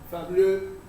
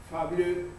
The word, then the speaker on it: Fabliaux: sí, que se lee Fabliaux, esa es la pronunciación, Fabliaux, Fabliaux.